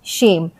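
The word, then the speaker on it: shame: अगर यह ए जो है ए के अगर बाद में होता है ई यानी ई के पहले अगर ए आता है तो उस शब्द का जो उच्चारण होता है वह ए के लिए होता है और वहां पे ई साइलेंट हो जाता है जैसे एस एच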